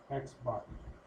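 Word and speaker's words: x̄: So right here it's pronounced x bar.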